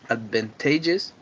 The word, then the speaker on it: advantageous: is the seventh is advantageous it has four syllables and its stress is on the day on the third syllable the fourth one or